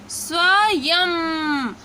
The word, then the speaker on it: स्वयं: की मात्रा ये है, लेकिन यहाँ प्रोनाउंसिएशन आपका बदल रहा है स्वयं, यम। ठीक है। यम, यानी य के आखिरी साउंड में उच्चारण हो रहा है,